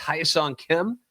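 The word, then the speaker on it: Kim Hye-seong: And I believe it's pronounced Hyesung Kim. I think that's how he pronounces that.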